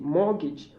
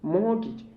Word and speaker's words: mortgage: watch be batted c mortgage and d wrestle c and both have silent t mortgage mortgage and dear wrestle um